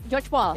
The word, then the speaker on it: Georgopol: Di depan sana juga terlihat menuju Gregopol harusnya ini. Menuju George Paul. Ya itu. Ya memang ya, bener pronunciation sih.